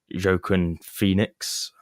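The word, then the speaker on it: Joaquin Phoenix: the directors favorite for the role is you jokin Phoenix that's how you say his name the guy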